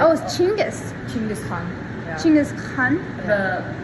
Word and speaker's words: Chingis: of mine because it's like because was it gingas was it jangus was it I've heard so many versions I'm like how do you say his name chingis chingus yeah wow I never I thought it